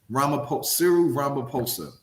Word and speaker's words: Ramaphosa: and his name is cyril rump how you pronounce the last name ramaphosa the americans over there call them uncle cyril